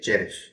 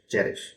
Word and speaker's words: cherish: present participle cherishing and the syllable stress is on the first syllable cherish okay cherish cherish cherish so to cherish something